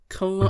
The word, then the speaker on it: Cologne: Cologne? I told you it had a silent letter.